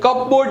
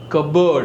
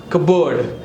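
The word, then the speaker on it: cupboard: स silent ji next we have प प silent here in कबर्ड सो the word comes is कबाटरे सु बोला है कपबोर्ड नहीं बोला है ये कपबोर्ड नहीं है क्या है कबर्ड what is इट कबर्ड फिर दिस इज कॉल्ड अ क कु यानी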